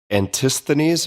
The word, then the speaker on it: Antisthenes: This is Antisthenes. Am I getting that pronunciation right?